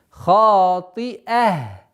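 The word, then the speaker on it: خاطئة: Хатия. Одно из самых распространенных ошибок, когда хамза переходит в звук я или а. Вот такой звук, неопределенный звук. Хатия. Четко, ясно, фатху нужно произносить. Хатия.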